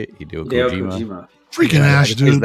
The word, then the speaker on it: Hideo Kojima: Hideo Hideo Kojima.